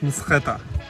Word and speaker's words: Mtskheta: Now we are back in the car and we are going to the city of Mskheta. That's right. Yes. You pronounced it good.